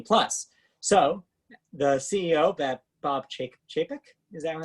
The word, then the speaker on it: Chapek: So the CEO, Bob Chapek, is that how you were pronouncing it? Yes. Chapek, said in an interview, quote, I would say